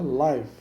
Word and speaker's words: live: está está vivo depois lá mãos então se pronuncia live não enviam animais vivos e como adverte nós